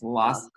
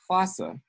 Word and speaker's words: Lhasa: transliteration and transpronunciation, because if you transliterate this, it's L-H-A, right? Yeah. It is pronounced H-L-A. Unfortunately, a bunch of English speakers didn't know that, and now everyone pronounces the capital of Tibet as Lhasa, when it is in fact Lhasa, which, ¿cómo se dice Lhasa en español?